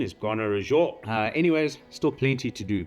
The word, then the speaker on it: Gonarezhou: And yes, it is pronounced Gonarezhou. A lot of people call it Gonarezhou or Gonarezhou. The correct pronunciation is Gonarezhou.